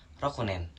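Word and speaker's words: 六年: Ya benar, roku ditambahkan dengan nen atau penulisannya dengan kanji bisa kalian lihat di sebelah kiri dan cara bacanya yakni rokunen artinya 6 tahun.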